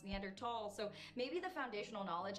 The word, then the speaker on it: Neanderthal: like you know anymore Neanderthal is pronounced neander tall so maybe the foundational